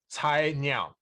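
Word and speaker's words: Cainiao: I was just busy eating a sandwich, but yes, the pronunciation, it's Cai Niao. Chino.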